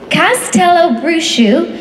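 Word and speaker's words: Castelobruxo: way this is phonetically spelled so I'm definitely pronouncing it correctly Castell Bru in Brazil hidden deep in the rainforest this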